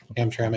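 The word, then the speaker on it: Hamtramck: uh graveyard so this is how do you pronounce that ham Hamra ham tram yeah this stack here is so um hamic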